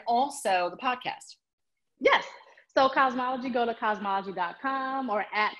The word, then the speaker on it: Kazmaleje: it for folks um k-a-z m-a-n-p-j-e yeah the phonetic spelling the phonetic spelling of cosmology um latoya one last